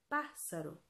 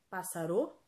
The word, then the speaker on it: pássaro: vou separar pássaro o pássaro qual é a sílaba mais forte de pássaro me diga em voz alta pássaro pássaro será que é passar o não é pássaro então a antepenúltima sílaba é